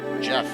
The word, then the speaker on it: Geoff: But when we were doing it, we had our own pronunciation during the Living Greyhawk times. It was Eric had a little document on it as well, because we sort of based the Flan Geary off of Welsh, and so there's a whole pronunciation guide, and so Geoff became Geoff, which was the Flan pronunciation for it.